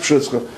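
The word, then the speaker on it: Przysucha: It's pronounced Pshischa. That's actually a town that I think the Jews and the Gentiles pronounce the same way.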